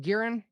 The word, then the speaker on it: Gearen: show now how do you say your last name gearen yep you got it you spell it too